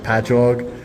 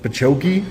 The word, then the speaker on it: Patchogue: I'm from Long Island, and the cities that we have, it'll be like Patchogue, and they'll be like Pachoki, and I'm like, no, it's just ingrained into my brain that I know how to say them.